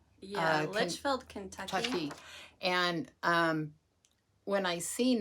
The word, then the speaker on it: Litchfield: Litchfield? Yeah, Litchfield, Kentucky.